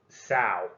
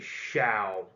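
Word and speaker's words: xiao: thought it would be sao but it's actually shao as in shower and then wu way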